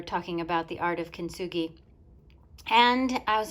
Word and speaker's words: kintsugi: i could practice the art of kinsuji or kinsu kinsugi that's how you say it kenzugi on this